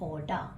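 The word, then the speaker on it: Aouda: फॉग एक Indian princess है जिसका नाम है ओडा देखो स्पेलिंग एक नया कैरेक्टर ए ओ यू डी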